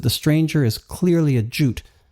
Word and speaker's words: Jute: Now the character formerly known as Mutt is Jute, or Jutta as he pronounces it with a newfound Scandinavian inflection, and Jute is Mutt.